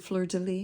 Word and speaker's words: fleur de lis: I pronounce it fleur de lis because that's how it's, you know, that's how I've always been taught to pronounce it.